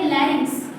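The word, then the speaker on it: larynx: Pronunciation rhyming word के जैसे है। फेरिंग्स के बाद आता है लेरिंग्स।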